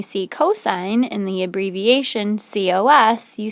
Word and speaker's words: cos: cosine in the abbreviation c-o-s you say cos like coast but without the t cos or like a roller coaster and then for tangent